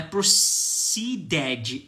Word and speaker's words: proceeded: E esse ed aqui nós vamos pronunciar como ed, e não ed, tá? Não é proceeded, é proceeded.